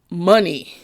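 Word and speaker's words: Mani: mention it says um money um and it's m-a-n-i but it's pronounced money and money or fortune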